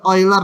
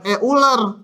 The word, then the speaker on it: Euler: Nah ini dinamakan bilangan bacanya Yang benar oiler ya Jangan euler nanti datang si oiler